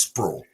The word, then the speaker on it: Sprewell: place called squirrel Bluff spelled Sprewell I don't know how they get the word sprawl out of it but it's sprawl but it's a it's